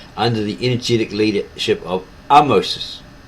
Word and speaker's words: Ahmose: In 1580 BC, however, the Hyksos were finally expelled by the Egyptians under the energetic leadership of Ahmoses, a name pronounced Ahmoses, which is spelled Ahmose, Ahmes or Aames.